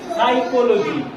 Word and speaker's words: psychology: পিসি চলো যায় পিসি সাইকোলজি সাইকোলজিতে দেখ পি এর উচ্চারণটা আসছে না আসছে কিন্তু পি লিখতে